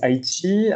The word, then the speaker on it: Aichi: Euh donc Haïti, déjà on prononce avec un T audible avant le CH.